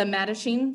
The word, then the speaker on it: Mattachine: in 1950 we see the foundation of the madishine society medicine is spelled m-a-t-t a c h i n e